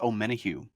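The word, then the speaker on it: Omenihu: guy oh too late my guy is Deon pronounce his last name this is Charles om menu Charles menu there it is um so we've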